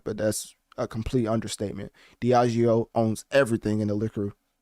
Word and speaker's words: Diageo: spelling, so you can tell me how it's pronounced. I think it's Diageo. Also the owner of Ciroc, but that's a complete understatement. Diageo owns everything in the liquor business.